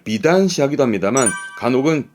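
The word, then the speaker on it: 美男子: 그리고 이 미남자 발음을 비단시 하기도 합니다만 간혹은 비난시, 음으로는 난 가기도 합니다. 비난시. 주로는 비단시 하는데요.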